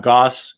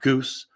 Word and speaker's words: Gosse: with sauce it's not goose it's not gross it's not gasse it's not gossip it's goss and it rhymes with sauce and that's the best way to remember i'm so glad you're